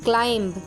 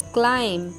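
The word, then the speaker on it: climb: thumb नहीं होता थम सी एल आई एम बी क्लाइंब नो इट्स क्लाइम टॉम अब डी ई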